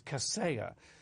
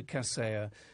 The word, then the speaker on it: Kaseya: I thought it was Kaseya, and it turns out to be, I think it is Kaseya.